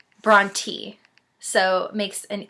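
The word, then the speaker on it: Brontë: this name and it's Bronte so makes an e sound not an a sound so I was saying Bronte it's Bron te so thank you Jesus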